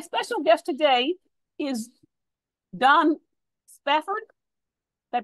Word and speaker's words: Spafford: So my special guest today is Don Spafford. Did I pronounce that right?